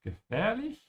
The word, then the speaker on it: gefährlich: Was heißt gefährlich? Dangerous. While pronouncing gefährlich, make sure not to ignore the umlaut. There's an ä here and then it's a little bit longer because there's an h after it.